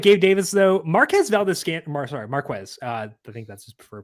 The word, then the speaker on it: Marquez: Marquez. I think that's his preferred pronunciation.